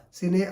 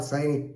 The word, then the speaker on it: sine: Sine or Sine, whatever, you can pronounce it in whatever way you like. But normally North Indians, they pronounce it as Sine, right?